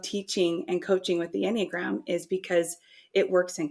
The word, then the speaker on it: Enneagram: It's called the Enneagram. That's how it's pronounced.